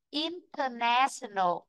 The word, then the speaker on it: international: Vì vậy từ này trọng âm chính của nó sẽ rơi vào chữ nè. Trọng âm vốn gốc của nó là chữ nè. Còn chữ inter là người thêm vào. Vì vậy trọng âm ở đây là nhè này. In, international. Nó nhè ở đây. Nhưng mà nó chính là ở chữ nè. Vị trí thứ ba.